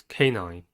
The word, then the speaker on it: canine: The next word is canine. Canine has 2 syllables and the stress is at the first one.